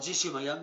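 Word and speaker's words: Jessy O'Magahn: 2015, ça fait 4 ans, le 17 janvier 2015 à 23 h par Jesse O'Magan, c'est moi, ça s'écrit J-E-2-S-Y, O''M-A-G-A-H-N, c'est mon pseudonyme et mon nom étant du Cantal.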